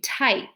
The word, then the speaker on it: type: all right number two type so we have again tie so it's a long i and we do cross out the e because we don't hear the e at all it's just i okay um very good